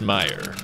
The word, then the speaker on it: Meijer: popular franchise grocery store he says it's pronounced Meer she says it's Meers we say let's settle